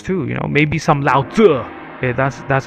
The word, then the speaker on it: Lao Tzu: on some books too, you know, maybe some Lao Tzu. Yeah, that's that's how you pronounce it.